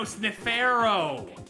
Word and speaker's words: Sniffaro: Oh, wait, no, Sniffaro. Like Pharaoh. Oh. Oh. Can't believe I just got that at 23 years old. To be fair, they don't spell it like Pharaoh at the end there.